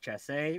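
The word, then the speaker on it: chassé: one quick what's up guess ben says it's pronounced chasse which is a gliding step in dancing in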